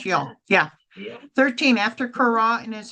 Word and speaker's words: Sheol: How do you pronounce Sheol. that? Yeah. Sheol.